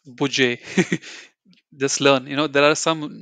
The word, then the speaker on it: Budget: It's not budget, it's budget.